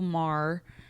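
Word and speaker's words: Maehrer: It's by Hannah Nicole Marr.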